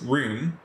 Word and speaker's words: Rune: Wait, what does Rune do? Oh yeah, that's the weird thing. In Japanese, this name is pronounced Rune. In English, you would probably pronounce it Run.